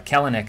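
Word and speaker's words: Kelenic: rodriguez clinic uh uh kalanick actually i believe is how it's pronounced i keep saying that wrong wander franco uh you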